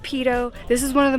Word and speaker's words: Peyto: I used to think it was called Payto Lake, but apparently it's pronounced Peyto.